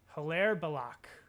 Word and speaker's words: Hilaire Belloc: Pronunciation. Hilaire Belloc. Hilaire Belloc.